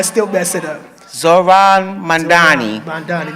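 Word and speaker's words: Mamdani: Zoran Mandani. Mandani. Not Mand. I say Mammoodi, but it's Mandani.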